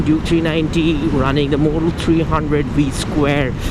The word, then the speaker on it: 300V²: So today's video is about the 2018 Duke 390 running the Motul 300V square. It's pronounced V square, not V2 or version 2.